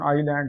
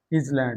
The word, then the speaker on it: island: इसका pronunciation आइलैंड है, इजलैंड नहीं है।